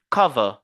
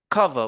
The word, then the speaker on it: cover: sur la première syllabe regardez par exemple on dit cover cover vous voyez l'apostrophe cover cover on se focalise sur ça sur cette première syllabe purchch ch vous voyezch